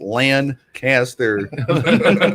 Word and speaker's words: Lancaster: It's pronounced Lancaster.